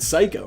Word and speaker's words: psycho: know how to wear you know how to say the word psycho right obviously it's a silent P but not in the